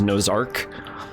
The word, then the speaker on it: Nozark: Index, N6 Red, Nozark, because apparently you pronounce that name as Nozark.